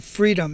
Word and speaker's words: Freedym: I am talking about a membership site called Freedom. It's spelled Freedym.